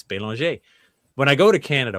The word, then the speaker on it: Belanger: But when I was in college, my last name is Belanger, but the proper French pronunciation is Belanger.